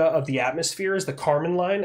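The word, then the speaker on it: Kármán line: the atmosphere is the Carmen line it's not spelled like Carmen like your girlfriend Carmen it's spelled in a we really re weird way but it's pronounced Carmen line and it's 100 km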